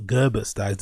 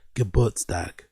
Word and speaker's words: Geburtstag: Geburtstag. Which means Geburtstag. So it's not Gerbertstag, it's not Geburtstag, it's Geburtstag. Means the day on which one is born.